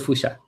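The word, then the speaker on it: Fuchsia: that this of commemorating boosha boosha yeah hello yeah hey Fisher it's called foucha so there is a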